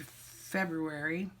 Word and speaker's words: February: draw write the word February and I don't know why I just pronounced that the way it's written nobody else does then I do my